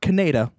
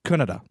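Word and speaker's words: Kaneda: Canada and he's like it's not cañedo it's Kannada say it right like he would stop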